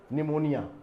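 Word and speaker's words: pneumonia: चर्चा की थी की ये वर्ड में पीस साइलेंट रहता है यह एक प्रकार की बीमारी का नाम है निमोनिया तो ये पी यहां पर साइलेंट है तो इसकी स्पेलिंग भी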